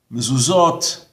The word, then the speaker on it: mezuzot: It's pronounced as a T. Mitzvot, tzitzit, mezuzot. Whether it has or has not, it's a T.